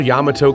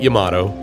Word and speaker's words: Yamato: Japan native, the only member of the original Yamato colony to stay in Delray Beach after World War II. For those of us locals that call it Yamato, myself not excluded, the traditional pronunciation is Yamato.